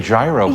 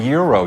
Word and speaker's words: gyro: people say it but some people say gyro but it's really Euro you said it right